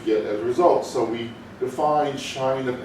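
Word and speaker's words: sinh: in a hyperbolic function we call that shine it is spelled s-i-n-h but it's shine instead of solid and if this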